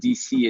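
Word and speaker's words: D'ici: a podcast in french called washington dc and dc is spelled d apostrophe ici which means from here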